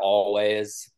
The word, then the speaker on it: Alvvays: Speaking of obnoxious, no, yeah, I've been campaigning for Always, ALVVAYS is how they spell it, for like 2 years now.